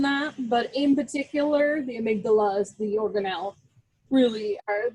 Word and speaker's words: amygdala: All right, so this is the amygdala, like Queen Amidala, nothing rhymes with it.